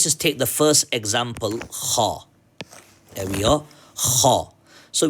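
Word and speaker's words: خَ: Kha. Come on, kha. So let's put a fatha on this. How do we pronounce it now? Kha. Kha. This is not g or g or whatever. Kha.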